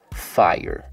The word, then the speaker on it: 5ire: fire literally today's gem today's banger is called fire spelled with a five iron so without further ado